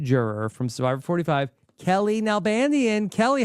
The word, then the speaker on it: Nalbandian: once the second juror from Survivor 45 Kelly nanian Kelly how are you I'm even better because you pronounced my last name flawlessly Rob flawlessly right